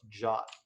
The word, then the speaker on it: JWT: to use is called jot um i'm not having a stroke uh i know that it's written jwt i'm telling you it's pronounced jot um it's i don't